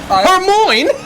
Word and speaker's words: Hermione: I pronounced Hermione's name wrong for like the first 4 books before I saw any of those movies. Hermione.